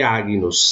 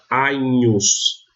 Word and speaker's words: Agnus: Então, no exemplo clássico, Agnus não se lê Agnus, se leria se fosse a pronúncia reconstituída. Mas na pronúncia romana eu leio Agnus, com um NH, Agnus.